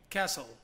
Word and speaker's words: castle: Mas a gente não pode pronunciar esse T, então fica listen. Number 3. Castle.